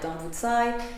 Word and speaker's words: Dambudzo: he also says that which is often pronounced more like Don juicai in Zimbabwe is generally a name